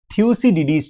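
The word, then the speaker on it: Thucydides: मैं अब देखिए दोस्तों मैंने जो प्रोनाउंस किया डाइट स्ट्रैप करके ये गलत है actual pronunciation is थूसी डिडी trap एक टर्म है दोस्तों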